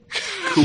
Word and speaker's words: Cuil: Cool. I remember CUIL. Yeah, ages ago. It's pronounced cool or whatever it is. Cool, as in Finn McCool.